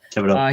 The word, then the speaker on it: Thibodeaux: Thibodeaux.